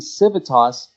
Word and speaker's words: Civitas: very quickly is that the pronunciation of the name is something that comes up quite a bit in different parts of the world. The pronunciation can vary depending on where you're from. So in Brazil, people refer to it as Civitas. You hear Civitas, Civitas, a bunch of different pronunciations, but it's actually Civitas.